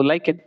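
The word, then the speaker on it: lichen: अगर सूचक पूछे तो लाइकेन तो लाइकेन है कहां? बता सकते हैं। तो एल आई सी एच ई एन एन एस होता है लाइकेन। लेकिन को ऐसे ही इंग्लिश में बोला जाता है।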